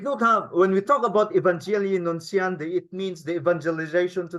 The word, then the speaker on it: Evangelii Nuntiandi: One of the encyclicals, one of the social documents, take note na, social documents, this is how we should pronounce it, Evangelii Nuntiandi. Okay? Evangelii Nuntiandi.